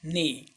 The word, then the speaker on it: neigh: NEIGH, ने. जी इसमें silent रहता है.